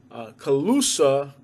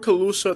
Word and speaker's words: Calusa: Calusa. I don't know why it's spelled that way. But the word Calusa, the Calusas were the native Indians that were in Southwest Florida.